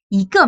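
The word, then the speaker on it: 一个: 一个名, 个 c'est quatrième ton. Donc c'est deuxième ton, 一个名.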